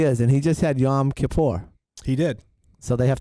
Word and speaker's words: Yom Kippur: just had it right Yom Kipper Yom Kippur oh you said it right second time yeah Yom Kippur my